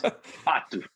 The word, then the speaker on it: Pato: Patu, that's how you say it. Okay. Patu. Okay. Not Patu.